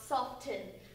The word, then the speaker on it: soften: It's soften, not soften. Who says soften? You're shady. I'm so angry about this. Because it's literally, if this isn't even like one that's debatable like caramel, it's literally how you pronounce it. If you look it up on any website, it'll say it's debated about, but like the original purpose was a silent T.